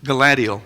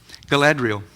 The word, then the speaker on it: Galadriel: of the Rings the there's the elf queen gadal I don't know if I pronounced if I pronounced her name correctly glad gadriel Galadriel thank you H in the movies it's played